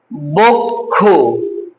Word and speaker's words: বক্ষ: তাহলে কি হল এটা এই এইবারে ঠিক আছে বক্ষ একইভাবে পক্ষ দক্ষ কিংবা কক্ষ একইভাবে উচ্চারণটা হবে।